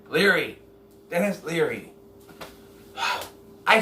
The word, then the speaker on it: Leary: Cleary. Dennis Cleary. God. Name every Dennis in the book. Dennis Cleary. Cleary? Is that... Am I saying his name right? Leary.